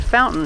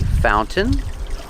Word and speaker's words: fountain: fountain with this pronunciation you put the tongue up like you're doing a stop T but you don't make the T you fall to the